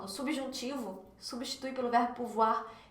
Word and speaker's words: pouvoir: Olha só a pronúncia dele, o com U fica U, então pou, ou com I fica wa, então pouvoir, pouvoir.